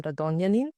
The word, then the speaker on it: Radonjanin: And today our guest is Radonin, the CEO at Valley. Thank you for joining us. Great pronunciation of my last name.